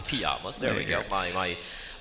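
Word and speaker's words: Pyjamas: in in pamas uh pamas is how to pronounce it in Sweden yeah pamas pamas there we go my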